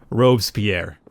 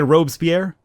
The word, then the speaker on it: Robespierre: Robespierre. What? How do you say it? Isn't it Robespierre? Robespierre. Robespierre.